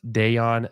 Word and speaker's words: Dejan: someone for sure uh it's pronounced Deon not like the mustard Deon sorry Deon yich I always call him dejon yich Deon yich gotcha